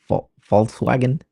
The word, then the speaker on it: Volkswagen: pronounce those words accordingly but it's Volkswagen or f um Volkswagen is pretty much folk is the peoplek and vagon is the wagon so it's the people's wagon so folks like folks yeah like folks it's